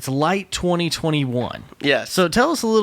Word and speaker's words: LITE: And you have this event coming up that we were kind of talking about called LITE 2021.